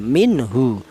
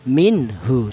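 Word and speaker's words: مِنْهُ: Ini dibaca izhar. Apa artinya izhar? Izhar itu artinya jelas. Yang mana yang jelas ini nun mati ini cara bacanya dibaca jelas ya. minhu seperti tadi ya, tidak boleh nun mati ini disamarkan tidak boleh. Seperti contoh minhu tidak boleh karena apa? Huruf ha ini termasuk hurufnya izhar minhu. Seperti itu cara bacanya.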